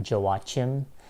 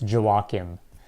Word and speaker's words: Joachim: him again let's just clear it up it's pronounced did you walk him it's not walking it's not walk him it's not Jill watch him it's not Joe a team I hear that a lot for some reason